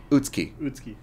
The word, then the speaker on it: Utsuki: At least I'm pronouncing it right. Utsuki. When there's a U in the middle of the word, you don't really pronounce it.